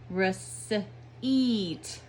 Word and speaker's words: receipt: one does the talking so E is saying his name E and I is silent as an receipt receipt the second sound the